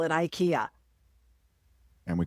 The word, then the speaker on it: IKEA: Anyway, it's not IKEA. It's IKEA. Yeah, no, I'm not saying that. That's stupid. It's IKEA. I don't care if that's how they say it's supposed to be pronounced.